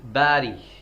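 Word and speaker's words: bury: बी ई आर आई बैरी ये जो आपका जवाब है बैरी वो बैरी की स्पेलिंग ये रंग होती है ये बरी होता है बरी बैरी नहीं होता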